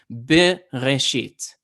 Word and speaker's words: Bereshit: Tanakh, Genesis 1, is Bereshit. Okay, it's a bet, a hard B, not a V.